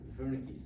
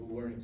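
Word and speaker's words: Wernicke: one is known as vernick's area. The W is pronounced as a V, right? You can call it Warick if you want to, but doesn't matter as long as you spell it correctly.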